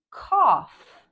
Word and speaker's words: cough: example ghost ghoul yogurt other times this blend sounds like the F sound like in cough laugh tough and other times